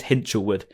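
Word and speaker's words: Hinshelwood: pronounce your name and he said it is hinwood not hinch or hint it's hinch okay so there you go it's hinwood if anyone wants to know um but yeah hitwood now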